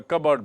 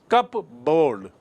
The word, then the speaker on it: cupboard: like an AB Ney actually it is cupboard cupboard see the spelling c u p b-o-r-d so far a stranger